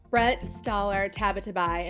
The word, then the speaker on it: Brette Stoller Tabatabai: together towards Justice well we are here with Brett staller tabatabai and I always ask her if I pronounce that right you got it I got